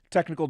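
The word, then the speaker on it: Teknikal: admit I I had to sound it out technical domain says I'm just more amazed you pronounce my name right I'm like I literally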